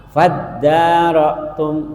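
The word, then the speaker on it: فَادَّارَأْتُمْ: Faddarotum. Nah, itu faid, asal katanya id karena diwasol, alifnya diwasol, enggak faid tapi langsung fad.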